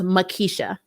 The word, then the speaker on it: Makisha: It was Makisha. It is spelled without an R. But for some reason, all over this freaking cosmos, across the multiverse, throughout time and space, people put an R in that name.